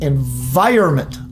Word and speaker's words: environment: your birthplace and early environment. Now that's not the right pronunciation. Many people say environment. It's environment.